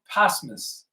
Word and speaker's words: posthumous: It's spelled post, P-O-S-T, but it's posthumous.